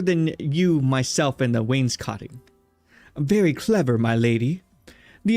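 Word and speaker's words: wainscoting: What is Wayne's cotting, chat?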